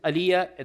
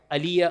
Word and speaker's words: Alija: Uh his name is Aliyah. There's a J in it but the J is pronounced Y. Aliyah Ali is Begoich.